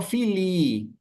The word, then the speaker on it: filii: Pero si ustedes se fijan aquí, yo digo filii, alargo la I, ¿sí? In nomine patris et filii, ¿sí?